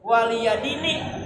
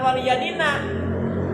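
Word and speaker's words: وَلِيَ دِينِ: Makanya di ujung ayat Al-Kafirun lakum dinukum waliyadini. Nih bacanya jangan waliyadina. Itu nih kasroh nya dibuang.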